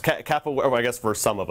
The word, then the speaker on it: capoeira: kimberly yeah you know it's a difficult word pronounced kappa where i guess for some of us uh but